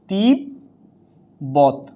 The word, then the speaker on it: তিব্বত: যেমন তিব্বত, কি হচ্ছে উচ্চারণটা?